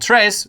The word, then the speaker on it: tres: pronounced you know and Tres rhymes with dress none of those things are true uh the AI was